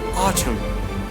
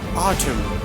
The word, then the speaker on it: autumn: So N letter will be silent. So they see the example: column, dam, solemn, autumn. Autumn, column, dam, solemn, and autumn. That means in these all words, N letter is silent.